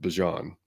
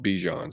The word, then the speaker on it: Bijan: You've now added Bijan to it, Which, by the way, if you saw his interview, it's actually supposedly pronounced Bijan.